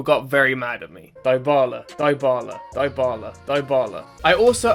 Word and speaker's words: Dybala: However, when I tested this in FC24, I said the player's name wrong and a lot of people got very mad at me. Dybala, Dybala, Dybala, Dybala.